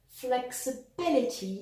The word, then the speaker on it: flexibility: Yeah, well, if we take the adjective flexible, stressed on the first syllable, and turn it into a noun, we end up with flexibility, stressed on the third syllable.